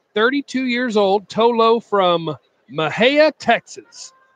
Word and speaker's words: Mexia: Tolo from Mejia Texas just say Mejia correctly lol Mejia Mejia is that right I don't know thanks Gary Lawson I know it's not Mexia that's the way it's spelled I believe that I'm 40 I believe that yes I believe it is Mejia a big day for